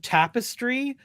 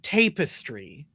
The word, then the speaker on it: tapestry: the other day and they pronounced tapestry as tapistry.